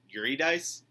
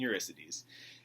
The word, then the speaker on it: Eurydice: It looks like Orpheus and Eurydice. That's not how you pronounce it. It's actually Orpheus and Eurydice.